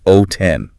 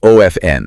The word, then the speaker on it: often: And within that specific dialect, the most widely accepted, fluid, and natural-sounding pronunciation drops the consonant entirely. So, it's O-F-N.